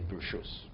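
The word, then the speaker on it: ברשות: And you say Bershus. That's the proper way to say it, with your permission.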